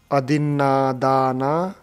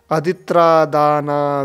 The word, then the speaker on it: अदिन्नादाना: अक्षर होने के कारण ये न को अदित्रा बोलते हैं, अदित्रादाना वेरमणि शिक्षा पदं समादियामि, ऐसे उच्चारण करते हैं। यत्रा नहीं है, न है, पाली में त्रा नहीं होता है, न है ये। अदिन्न अदिन्न दो ना है ना, अदिन्न तो ये दो ना है इसमें, अदिन्न दाना वेरमणि शिक्षा